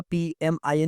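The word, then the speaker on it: PMIN: ये basically Pym pronounce नहीं होगा। पीएमआई एन ही होगा क्योंकि ये basically stand पीएमआईएम stands for processor memory interconnection network.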